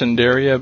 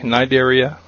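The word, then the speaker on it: Cnidaria: though uh you would think this would be pronounced cinderia but it's actually a silent sea nidaria which includes jellyfish corals and Etc pathophys ology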